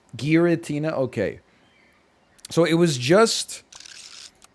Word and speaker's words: Giratina: Is it Giratina or Giratina? I'm going to say Giratina pizza, which just looked unbelievably, like, it just looked horrible. It was like just a hard G. Giratina, okay.